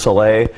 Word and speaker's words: Salais: name pronounced correctly and my last name is spelled SI la is so it's like slays but pronounced Soleil so you did get